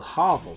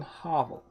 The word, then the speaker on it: Havel: sauce dexterity 222 fantastic the dude is calling Harville Havel Harville I've always pronounced it hobble I've always said Harville is it not Harvick so Black Knight